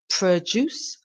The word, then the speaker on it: produce: produce produce and produce produce produce so to produce something is to create something provide or offer something juce the stress is on the last part of the word the second syllable produce